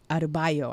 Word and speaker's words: Adebayo: Adebayo. I know Adebayo is correct.